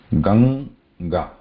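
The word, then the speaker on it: गङ्गा: First we start with the Ga, which I think you are all familiar with how to pronounce this Ga, and then we want to pronounce Nga there. Nga. Gang and Ganga.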